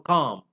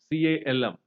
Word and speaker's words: calm: For example, calf, calf, or calm, calm. L is there, but it is silent.